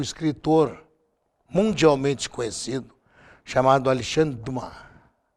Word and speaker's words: Dumas: mundialmente conhecido chamado alexandre do mar alexandre do mar ou alexandre dumas como se escreve e o alexandre dumas